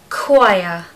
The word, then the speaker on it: choir: date number three is choir chir choir again does not look anything like the spelling if it was being said phonetically it would be chah chah a chah of singers no so what you